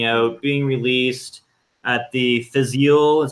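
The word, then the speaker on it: Fèis Ìle: new octomore coming out being released at the Physiol is how you pronounce it festival is happening vistas yield yeah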